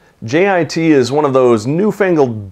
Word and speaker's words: JIT: So JIT, sometimes pronounced JIT, what is it?